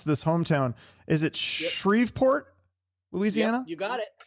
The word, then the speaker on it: Shreveport: So tell me, I'm going to mispronounce this hometown. Is it Shreveport, Louisiana?